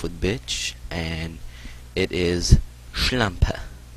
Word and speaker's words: Schlampe: We'll start off with bitch, and it is Schlampe. Schlampe. Schlampe. You have to emphasize the SCH at the beginning of it. Kind of a low tone.